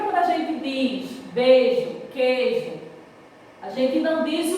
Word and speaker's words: queijo: Esse I aqui, na pronúncia, ele não sai.